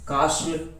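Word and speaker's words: castle: फिर आगे देखो साइलेंट है टी, टी को किस प्रकार साइलेंट किया गया है, जैसे ऑफेन, ब्रिशल, बशल, बचर, ये बुचर बोल दो इसको, काश्ल, Christmas, फाशन, ग्लिशन, हशल, listen, रशल, scratch, सोफेन, watch, we shall और विच।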